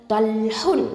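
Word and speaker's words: طلح: தல்ஹுன். தல்ஹுன் அப்படின்னா தா ஃபத்ஹா தா, லாம் சுக்குனோட இணைக்கணும், அப்போது தல். அடுத்தது ஹ தொம்மத்தைன், ஹுன். தல்ஹுன். ஓகே, தா ஹெவி லெட்டர், அப்போ நல்லா வாயை ஓப்பன் பண்ணி சொல்லுங்கள்.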